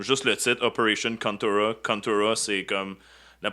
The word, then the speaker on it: Contra: Contura, c'est comme la prononciation en japonais de Contra.